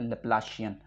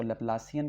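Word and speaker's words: Laplacian: Question आ जाते हैं, वो है लैप्लासियन, या कोई उसको लैप्लासियन कहता है, जैसे भी आप उसको प्रोनाउंस करते हैं, लैप्लासियन ऑपरेटर, दी लैप्लासियन।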